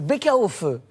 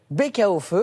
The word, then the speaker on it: Baeckeoffe: Alors c'est le Bäckerhofe. Bäckerhofe, c'est assez simple à prononcer. Bäckerhofe.